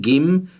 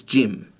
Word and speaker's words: gym: Here we've got the word gym, and we know that usually if it comes before a Y, we get the soft J sound. It's not gim, it's gym.